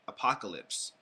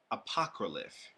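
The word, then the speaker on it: Apocralyph: name of this card is not Divine Dragon apocalypse I will pronounce it it's divine dragon AOC apocryph apocryph so for all of you that are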